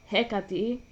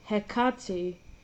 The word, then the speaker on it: Hecate: Sara says Hecati and Melinda says Hekati. Um as a Greek Sarah is closer to the original.